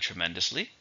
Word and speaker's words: tremendously: We also have tremendously. Same meaning, but it's an adverb. How many syllables? Tremendously. 4, stresses on the second, tremendously.